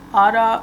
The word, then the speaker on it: Ada: So this one is called Ada or Ardor, although ADA is supposed to phonetically sound like how a British person would say the word ardor, but it's meant to be a little punny.